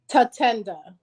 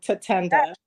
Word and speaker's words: Tatenda: how you spell it is how it sounds like ta and then add the number 10 and then duh, but put it all together. Tatenda.